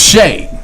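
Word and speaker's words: Skjei: His name is Brady Shea. His last name is spelled like SKJCSFXVC. Exclamation point. But it's pronounced Shea.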